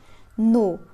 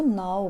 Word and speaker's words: know: में W silent है नो बहुत सारे बच्चे इसको नाउ पढ़ते हैं आपने नाउ नहीं पढ़ना नाउ जो होता है वो एन ओ डब्लू वाला नाउ होता है उसका मतलब होता है अब ये वाला नो होता है इसका मतलब है जानना ठीक है नो नो